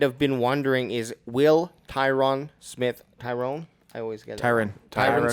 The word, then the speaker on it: Tyron: So Tyron Smith, kind of if like Byron Leftwich, that's how you say it.